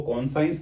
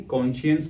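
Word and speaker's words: conscience: वैसे ये आपको लगेगा दो वर्ड से मिलके बना है। Cone plus साइंस। लेकिन इसको कॉन्संस नहीं कॉन्शियंस बोलते हैं।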